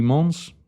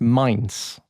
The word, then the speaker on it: Mainz: FSV Mons 05. Did I pronounce that correctly? Come on, Neil. This is where we could either cut it or you keep it going. No. Hold it together. Oh, hold it together. So it's Mainz.